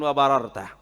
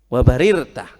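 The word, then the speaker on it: وبررت: Ingat, bukan wa bararta, wa barirta.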